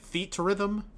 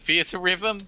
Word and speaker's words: Theatrhythm: Theatrhythm? I don't fucking know. I always pronounced it Theatrhythm because that's actually Those are actually words, yes.